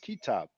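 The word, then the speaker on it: كتاب: they call it so it will be basically KTB but because they know it's their language they know it is pronounced kitab now later on they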